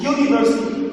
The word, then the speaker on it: university: A university, a uniform, a European country. Here these words started with U, E, written in vowels, but pronounced consonants as consonant sounds. And university, look, university. So U, this is consonant, not a vowel.